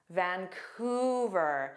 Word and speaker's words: Vancouver: Vancouver.